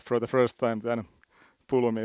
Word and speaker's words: Pulumi: But if you heard it for the first time, then Pulumi is now the Finnish way of saying it.